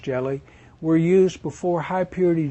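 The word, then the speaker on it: Ge(Li): “Ge-Li”s, yeah, pronounced “jelly,” were used before high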